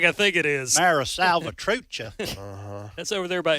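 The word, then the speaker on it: Mara Salvatrucha: Uh by the way, I I mispronounced the the name. It's Mara Salvatucha.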